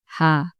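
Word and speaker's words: ح: বা তা সাম হা এই হা টা একটু গলার থেকে আসবে হা তুমি যদি শুধু হা বলো মনে হয় আকার হা তাহলে এটা অন্য আরেকটা লেটার হবে ঠিক আছে হা এটা হা ওকে বুঝতে পারছো মানে গলাটা একটু ইয়া কইরা তারপরে হাম বলো কি হা হয় নাই হা আরেকটু হা ওকে হা একটু মানে তোমার গলার ভিতরের দুই সাইডটা আছে না এটা একটু কাছাকাছি না তারপরে বলো হা কাছাকাছি হ্যাঁ হা হ্যাঁ তারপরে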